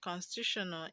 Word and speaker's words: constitutional: Now, the third level from the end of the word constitutional is TU. Okay, TU. That's the third level from the end. Constitutional. Now the stress is on TU. Okay, because it ends with AL.